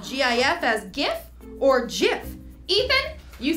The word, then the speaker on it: GIF: Even the creator said that it's JIF, so if he said it, it's JIF. The Oxford Dictionary accepts both pronunciations, and they are wrong. It's a soft G, pronounced JIF.